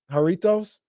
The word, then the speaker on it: Jarritos: Jarritos.